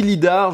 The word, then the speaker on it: lidar: capteur lidar oulaï d'art vous le prononcer comme vous voulez l'oeil d'or ou je ne sais pas quoi moi je le dis lidar je le prononce en français intégral ce capteur lidar ne